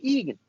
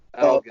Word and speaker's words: Elgin: speaking out allegation was Michael Egan. Elgin. Michael Elgin, sorry. I pronounced it incorrectly, so Michael Elgin.